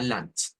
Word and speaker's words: Land: palabra de dos sílabas Esto suena a doch y esto a lant dch L Ahora les